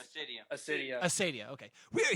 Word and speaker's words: Acaedia: you say your name Acadia or Aradia it's Acadia Acadia Acadia okay we are here with this